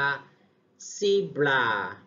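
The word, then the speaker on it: zebra: มา ลาย ม้า ลาย ภาษา อังกฤษ อ่าน ว่า สี บรา สี บรา สี บรา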